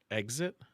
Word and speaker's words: exit: What do you say? Exit? I say exit. It's exactly how it's spelled. It's exit. There's no eggs in it. No, it's like a xylophone. Where's the fucking Z? I know. There's tons of EX words that have a G sound in them, but why does that one?